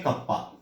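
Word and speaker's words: kappa: Pronounce कैसे करते हैं? कप्पा।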